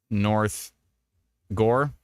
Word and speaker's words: North Gore: in uh North Gore It's like saying Gore but fast Gore Gore you just if you said it really fast like you live there all the time you're just like yeah light rain right now in North Gore and North Gore still thunder and lightning